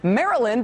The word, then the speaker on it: Maryland: According to Andrew Ehart, Maryland is pronounced to rhyme with Merlin.